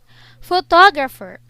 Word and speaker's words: photographer: on the first syllable photographer the stress is on the second syllable photographic the stress is